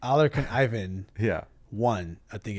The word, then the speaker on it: Alarcon: Say it how it's supposed to be pronounced, though. Alarcon. Yeah. With an accent. Yeah. With an R.